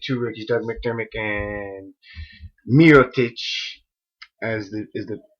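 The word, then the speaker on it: Mirotić: Gibson and the two rookies, Doug Mcdermick and Miroic as the is the correct pronunciation.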